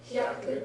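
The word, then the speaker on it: 百: Be very careful on your pronunciation. Hyaku means 100. Hayaku, spelled with ha, full-size yaku, means fast, quickly. So you don't want to get those two confused.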